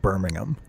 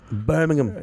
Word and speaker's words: Birmingham: do shows was like Birmingham. Birmingham. Yeah. Or as I... Birmingham? The only... The joke, there when you just pronounce it like an American would, you're like Birmingham.